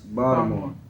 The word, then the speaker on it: Bmore: bmore stop yeah stop stop pronouncing the T it's bmore okay bmore I feel like